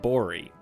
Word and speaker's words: Borg: here for sure actually Borg is pronounced bori shut up I'm tired